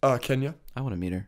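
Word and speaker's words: Xenia: It's spelled with an X, not a K. It's X-E-N-I-A. And Kenya is K-E-N-Y-A. It's a little different.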